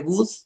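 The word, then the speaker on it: Wood: ¿Has oído hablar de una cosa que se llama luz de good? Y good se escribe w o o d, ¿no?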